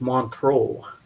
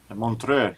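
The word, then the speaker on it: Montreux: Ah, it's pronounced Montro. Montre here in we usually say, but Oh, well, here in Canada Montro, you say Montreal.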